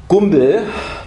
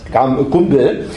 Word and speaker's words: Gumbel: But 5 years later, Gumbel please don't pronounce it Gumbel. It's German by origin, and I would prefer to express it as Gumbel.